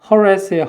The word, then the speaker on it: harass: 이게 뭐라고 발음해요? harass예요. harass. 강세 뒤에 있습니다.